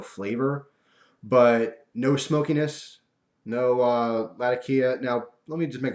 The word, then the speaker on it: Latakia: I always say Latakia or Latakia. I heard a factory tour at Orlik, and the guy who was giving the tour said Latakia. That's how he pronounced it. But I'm stubborn, and I've been saying Latakia or Latakia. So, but I believe the real pronunciation might be Latakia from where it's grown and all that stuff.